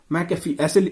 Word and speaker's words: McAfee: क्या बोलते हैं मैकफी, इसको ऐसे लिखते हैं MCAFEE, मैकफी ऐसे बोलते हैं। ठीक है, तो इसका जो हिंदी प्रोनाउंसिएशन है वो ऐसे होता है।